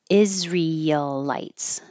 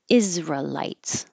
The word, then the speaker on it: Israelites: g sanctimonious treacherous treacherous this has two options you can say four syllables Israelites Israelites or three syllables Israelites Israelites this you have